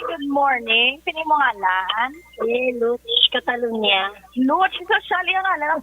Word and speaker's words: Lutz: Lutz Catalonia.